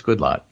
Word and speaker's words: Goodlatte: That's what I thought, because I'm just so Starbucks conditioned, but it's Goodlatte. And it's got some of the other people in there, too, in terms of pronunciation, which I thought was semi-useful.